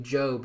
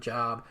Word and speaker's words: Job: I assume this would be Job, not Job.